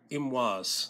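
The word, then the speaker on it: Imwas: in uh if you in arabic it is called imwaz it's spelled i-m-w-a-s or in hebrew it's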